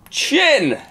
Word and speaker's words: Tchin: let's start off with chin I'm glad you pronounced that correctly chin a chin there we go um Eric Leblon